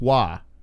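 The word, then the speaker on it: Roy: Well, it's like Patrick Waugh, you know, in hockey. His name is spelled R-O-Y, but it's Waugh, right?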